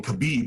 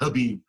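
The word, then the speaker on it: Khabib: Uh was it I keep saying Kabib, but it's actually Habib Menoff.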